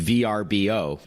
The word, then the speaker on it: Vrbo: branding the logo of verbo and the pronunciation as you said it used to be called a VRBO and now it's called verbo and then you know